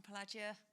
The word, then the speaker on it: Pelagia: Hi, I'm from Pelagia, just so you know how to pronounce it.